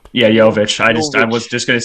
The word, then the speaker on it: Nikola Jovic: I'm not really sure how to pronounce his name. It's Nikola. What is it, Alan? Nikola Jovic. Yeah, Jovic.